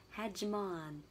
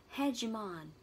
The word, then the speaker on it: hegemon: Và từ mà mình đã gạch chân, đã khoanh tròn, đó là từ hegemon. Trọng âm rơi vào từ hè. Hegemon. Cái từ cuối cùng đọc là on. Hegemon.